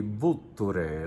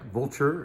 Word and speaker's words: Vulture: This is Aglianico di Vulture. It looks like vulture if you see it in print, but you say Vulture. I had to relearn that pronunciation and emphasis last night when Nico was representing this wine.